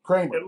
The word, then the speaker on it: Creamer: yeah so that's a little while yeah yeah and and creamer it's creamer Kramer spelled creamer so it tastes like creamer but it's actually pronounced Kramer okay perfect and you're